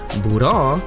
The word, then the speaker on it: Bra: If we go based off of the Japanese pronunciation of the name, Bura will sound exactly like what her name means, which is bra.